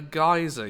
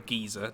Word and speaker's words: geyser: thing also haven't found a geyser yet or a geezer depending on your pronunciation actually a lot of